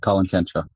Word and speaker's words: Colin Cantrell: The founder of this is Colin Cantrell. Am I pronouncing that right, Colin? Yeah, Colin Cantrell.